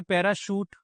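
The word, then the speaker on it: parachute: पी ए आर ए सी एच यू टी ई यहां पर sound तो शा का आ रहा है। पैराशूट लेकिन स्पेलिंग में क्या है बेटा?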